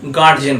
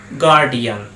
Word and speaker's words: guardian: সাধারণত আমরা ছোটবেলা থেকে এই ওয়ার্ডটার উচ্চারণ করে আসছি গার্জিয়ান বলে, কিন্তু এই ওয়ার্ডটার ঠিক উচ্চারণ হয় গার্ডিয়ান। গার্ডিয়ান শুনতে অবাক লাগলে গার্ডিয়ানটাই ঠিক উচ্চারণ।